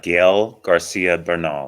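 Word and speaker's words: Gael García Bernal: who played werewolf by night I I can't pronounce his name Eddie do you know it by heart yes it is uh Gail Garcia Bernal yeah okay yeah let me tell you something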